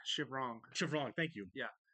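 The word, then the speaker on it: Shivrang: It's Chevrong. Chevrong, thank you. Yeah. Chevrang versus Chevrong, right? I only remember that because they were calling him Chevrang, and actually you're saying it wrong. It's Chevrong, yeah.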